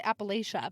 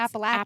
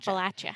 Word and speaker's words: Appalachia: it's not people say appalachia no it's appalachia appalachia like i'm gonna throw apples yeah 1914 was kind